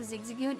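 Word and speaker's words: Zigzagoon: Instead of zigzagon, it's zigzagging.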